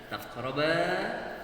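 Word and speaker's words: تقربا: Wala taqraba hadhihi asy-syajarata fatakuna minadh dhalimin. Ya. Karena banyak orang-orang yang membacanya dengan dibaca pendek. Wala taqraba hadhihi asy-syajarata fatakuna minadh dhalimin. Padahal yang benar taqraba fatakuna.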